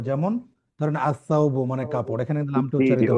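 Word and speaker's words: الثوب: যেমন ধরেন আসাউবু মানে কাপড়, এখানে কিন্তু লামটা জি জি উচ্চারিত ওটা হচ্ছে না।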